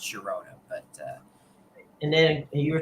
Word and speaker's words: Girona: I guess there's some sort of rule in Spanish where the GI makes a H sound, but it doesn't always because I'm pretty sure in Spain the club Girona is GI and that's pronounced Girona.